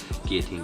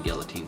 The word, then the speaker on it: guillotine: team so I had a subscriber a good friend of mine call me out on my pronunciation of guillotine guillotine so this is for you a team guillotine 52 blades coming together makes the guillotine cut not the guillotine the guillotine let's cut